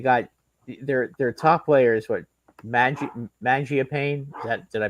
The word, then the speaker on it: Mangiapane: You got their top players, what, Mangiapane? Did I pronounce that right? Oh, Mangiapane.